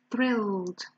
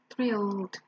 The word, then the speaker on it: thrilled: we stress to people thrilled thrilled well actually if you think about it we have only one syllable because the e is silent so we actually have